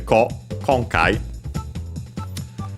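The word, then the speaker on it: 今回: And by the way, yeah, as I remembered, it's actually one of those accented on the first syllable, so on the konkai.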